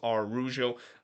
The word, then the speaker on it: Araujo: I'm just gonna pronounce Araujo. Just gonna go with the Spanish pronunciation, even if I have heard some announcer said it's Arujo or Arujo.